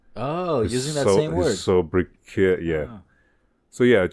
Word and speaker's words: sobriquet: Sobriquet, right? Okay. I think the T is silent in that case.